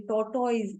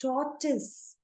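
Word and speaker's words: tortoise: लोग इसको कहानी में इस तरीके से बोलते हैं टॉर्टोइज. It's wrong. The right pronunciation is टॉर्टिस.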